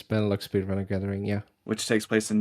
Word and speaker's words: Benelux Speedrunner Gathering: Live, which I might pronounce this wrong, Benelux Speedrunner Gathering, Yes. It's Benelux Speedrunner Gathering.